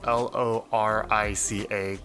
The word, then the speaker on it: lorica: spoke living correct yeah if there are any proper latin people out there i think the credit pronunciation might be larika but i do not know enough and i've said it this way for so long that it's lorica i'm sorry but yeah